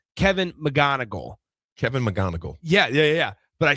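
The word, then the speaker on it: McGonigle: And I so often want to pronounce the C and the G. So it'd be like McGonigal, but it's just McGonigal.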